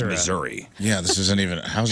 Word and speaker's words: Missouri: questions in the state how do you pronounce the name of the state is it missoui or Missouri M and ladies and gentlemen I mean it's Missouri yeah this isn't even